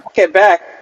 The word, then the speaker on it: Quebec: way is pronounced um quebec where you we emphasize the second syllable okay victoria and victoria